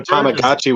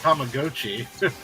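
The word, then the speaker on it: Tamagotchi: even I didn't even know tamagachi was still a thing and apparently it's tamag GOI yeah I guess we've been saying it wrong for 30 years yeah we getting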